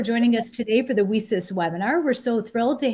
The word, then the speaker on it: WiCyS: We often go by our acronym, WiCyS, and it's spelled W-I-C-Y-S. We pronounce it WiCyS, like we sisters, because that's exactly what we are.